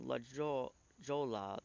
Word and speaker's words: La Jolla: that the California Town La Jolla the double l in Spanish is pronounced as a y is simply a misspelling